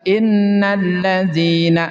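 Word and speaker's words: إِنَّ الَّذِينَ: Sudah bacaan alif lam di sini diidgamkan ada tasdid innalladzina sehingga bunyi alif lamnya enggak ada. Enggak nampak. Innalladzina ditasdid. Nah, untuk membedakannya supaya mudah dipahami antara ada tasdid atau enggak.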